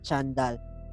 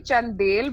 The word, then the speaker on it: Chandel: how are you doing I hope I pronounced the last name right Chandal because you got it you actually it's actually chandel but I I I